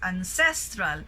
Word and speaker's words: ancestral: So you notice ancestral, but earlier we said ancestor. Okay, so distinguish the two. Ancestor, so first syllable, but when we say ancestral, it's in the second syllable.